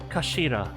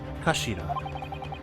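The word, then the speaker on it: 頭: end of the hillt it's written as head in Japanese but it's pronounced as Kashira I believe Kashira so Mr ai's words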